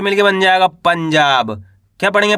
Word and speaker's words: पंजाब: तो मिलके बन जाएगा पंजाब। क्या पढ़ेंगे? पंजाब आ रहा है समझ में? प ऊपर किसकी मात्रा है? अनुस्वार की मात्रा। यानी कि आधा न का उच्चारण तेजी के साथ करेंगे।